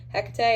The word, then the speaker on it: Hecate: I pronounced her name Kate for the longest time, and my spirit coach was like, do you mean Hecate?